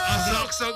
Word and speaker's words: Asakusa: It's pronounced okay. as Asaksa.